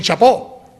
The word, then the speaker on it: chapeau: Porque escriben chapeau, ¿no? Y dicen chapó, y no digamos los ingleses, eso ya no hay ni uno, pues dicen Shakespeare, ¿no?